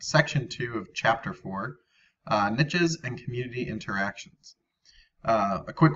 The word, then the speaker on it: niche: I think the European pronunciation is niche, or it can also be said as a niche. But in America, I think we say the niche.